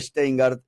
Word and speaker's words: Schteingart: Estamos con Daniel Steingard, eh sociólogo y director de planificación productiva en fundar y profesor universitario.